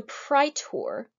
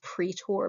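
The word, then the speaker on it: praetor: fewer people serving the pry tour here sometimes you'll hear british people pronouncing this pre-tour pre-tour both are okay pry tour is better pritor is a judicial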